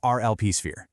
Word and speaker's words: rlpSphere: Today, we're diving into the Smart Lead program inside rlpSphere, and that's pronounced rlpSphere.